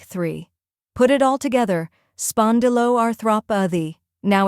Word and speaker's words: spondyloarthropathy: The correct pronunciation is spondyloarthropathy. Let's break it. First part, spondylo, spon like pond with an S, di like D, and lo like low.